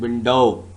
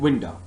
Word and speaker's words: window: I'm not saying window, I'm saying window.